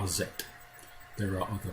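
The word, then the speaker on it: Aset: the sister wife is known to the greeks as isis i prefer the pronunciation of azet there are other pronunciations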